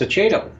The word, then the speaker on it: Aceto: No, I pronounce it wrong. It's Aceto. I have Italian.